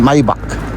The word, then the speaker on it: Maybach: Ito ang gusto ko yung Maybach tingnan natin to. Grabe to. Maybach m ang Hindi ko alam kung anong pronunciation nito sa English pero sa German maybach.